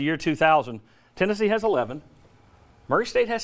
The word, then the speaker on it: Murray State: Morrie state of Murray State if you say it right and then Saturday at